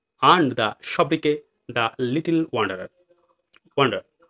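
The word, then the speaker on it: sobriquet: এবার চলে আসি পরবর্তী ওয়ার্ড সব্রিকে। দেখো উচ্চারণ সব্রিকোয়েট হওয়ার দরকার ছিল, কিন্তু সঠিক উচ্চারণ কি সব্রিকে।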